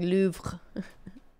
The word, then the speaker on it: Louvre: Wait, do you actually pronounce the R in French? It's like, kind of. It's like Louvre.